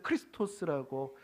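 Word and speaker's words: Χριστός: 한번 살펴보겠습니다이 그 헬로로 이제 이렇게 쓰는 것을 크리스토스 헬로 발음이 그렇게 되는데이 크스 크리스토스 이제이 동양에 와서이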